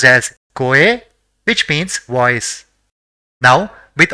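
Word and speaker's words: 声: So it will be pronounced as Koe, which means voice.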